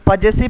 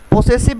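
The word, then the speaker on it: possessive: हैं यहाँ पर एक पजेसिव प्रोनाउन। पोसेसिव नहीं होता है, बहुत सारे लोग इसको पोसेसिव कह देते हैं, बट पोसेसिव नहीं होता है, पजेसिव होता है।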